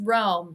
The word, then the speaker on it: Rome: it bub exactly oh it's pronounced Rome like the Italian city um what do you